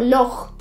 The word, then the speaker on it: loch: Como la J, en palabras como loch, que es lake.